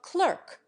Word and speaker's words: clerk: sound as everyone knows gets into the American pronunciation of clerk by analogy with insert the English cling to